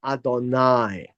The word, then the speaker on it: Adonai: it comes to God it will be pronounced as Adonai but the whole idea